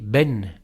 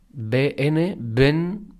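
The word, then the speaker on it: בן: el Castellano y las consonantes juntas sin vocales También tienen un sonido pero esta palabra si le pusiéramos una e en medio sonaría así ven no bn Ben significa hijo Por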